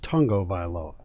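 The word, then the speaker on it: Tagovailoa: learned today even though it's spelled tagoviloa it's pronounced tongo vilo i looked it up in wikipedia that's how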